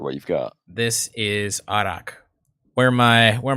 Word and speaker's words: arak: of your american friends one of our american friends kept pronouncing it iraq whenever you ordered it yeah please stop doing that he is just he